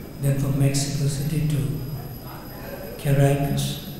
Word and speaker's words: Caracas: He's coming first from Mexico City, then from Mexico City to Caracas, Is that how you pronounce it? Correct. Caracas.